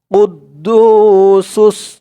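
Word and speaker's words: القدوس: মালিকুল আল মালিকুল কুদ্দু কুদ্দু বলে টান দিতে হবে এক আলিফ টান কুদ্দুস কুদ্দুস সালা লা এক আলিফ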